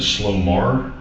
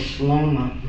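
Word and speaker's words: Slomar: Um so is it Sloar? No, it's Slma.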